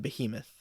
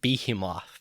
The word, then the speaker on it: Behemoth: believe that's the giant Behemoth yes I've never heard anyone pronounce it be him off that's because that would be wrong but uh didn't uh